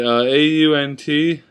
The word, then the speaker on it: aunt: Alright, A-U-N-T. I say ant.